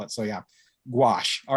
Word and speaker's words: gouache: you saw this on twitter how do you pronounce that word that's the g o u a c h e i'm overthinking it but i pronounce it gouache okay i i um i can't remember who